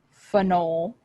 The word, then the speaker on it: phenol: five amino 2 bromo phenol notice the difference in the pronunciation phenol phenyl their spelling of course is very similar they sound very similar but they're very different things and if you are